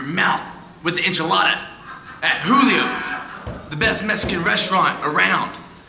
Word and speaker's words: Julio's: No, it's Julio's. It's spelled with a J. It's Julio's.